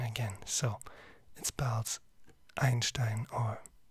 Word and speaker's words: Einstein: So it spells Einstein or Einstein, if you want to pronounce it in English.